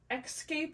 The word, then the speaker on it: Xscape: And in this instance, it is the brand Xscape. It's just an X. It's not like spelled like the traditional escape would be, but this one was brand new with tags.